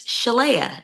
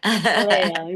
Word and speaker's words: Sheléa: It's Chala. Chala. Yeah, it's it's beautiful. Thank you so much. Like Princess Leia as you were telling me.